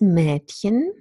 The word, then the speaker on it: Mädchen: This sound actually is very similar to the sound that occurs in English, British English, red. It's a half open front vowel, red, red, Mädchen.